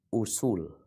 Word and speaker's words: usul: semua kitab tersebut s ini bacanya usul Oh I usul usul